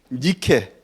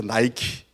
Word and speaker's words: 니케: 루브르 박물관에 가면 있는 승리의 여신 니케 니켈을 넘어서 영어식 발음으로 해서 나이키 그래서 나이키의 그 그